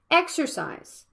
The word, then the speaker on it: exercise: has a stress about exercise the first vowel is a stress syllable and the next one is a schwa exercise you can also see